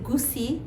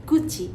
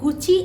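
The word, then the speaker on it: Gucci: অনেক কন্ট্রোভার্সি হয়েছিল তো আসল উচ্চারণটা হবে গুচি তো গুচি একটি ইতালিয়ান ব্র্যান্ড এবং এটা স্টার্ট হয়েছিল 1921 সালে এবং এটার নামকরণ হয়েছিল এই ব্র্যান্ডের যে ফাউন্ডার তার নাম অনুসারে সো সঠিক উচ্চারণ হবে গুচি আরেকটা খুব বিখ্যাত একটা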